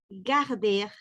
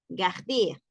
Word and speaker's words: garder: decimos loger, sino loger, es un E, loger, garder, con sonrisa, garder, loger, garder, mais on les prononce pour les mots, mère, mère, mère.